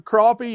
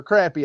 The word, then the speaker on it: crappie: Live Well it it if you're North they're crappie if you're South they're they're crappy and I live literally On the Border it just depends on who you're talking to so do people get